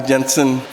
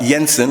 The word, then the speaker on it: Jensen: in this ad e Jensen uh Yensen I should say as a non-german speaker I have to remember the the J the is Yoba is spelled j r uba in German um so uh the Yensen